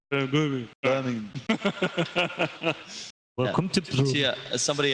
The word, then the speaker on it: Birmingham: Like Birmingham. Birmingham.